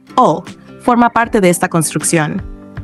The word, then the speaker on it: 오: El 5, que en coreano se pronuncia O, forma parte de esta construcción.